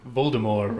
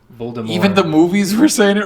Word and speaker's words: Voldemort: French it's French right cuz like all French words you just don't say the last letters pretty much yeah so does that